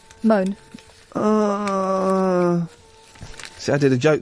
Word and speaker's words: Mone: And how do you pronounce her name? Michelle Money? Moan.